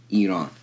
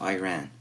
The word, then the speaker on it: Iran: example to use and that's how you pronounce it also as well Iran is not Iran do not ever say that do not be that orange man so these are two